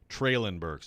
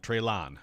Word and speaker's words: Treylon Burks: Treylon Burks, not Treylon.